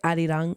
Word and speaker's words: Arirang: I don't think you have to roll your R's when you say, right? ARIRANG.